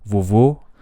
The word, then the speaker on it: vovô: for Portuguese, we've got the O vowel, which is found in the word at the top, which is vovô, o, yeah, and then the bottom